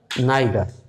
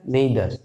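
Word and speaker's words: neither: Each, আইদার, নাইদার। অনেকে কিন্তু American pronunciation আছে, দেখবেন ইদার, নিদার, এরকম এইদার, নেইদার, এভাবে। তো আমরা সাধারণত আইদার, নাইদার এভাবে বলি, বা নেইদারও বলে অনেকে।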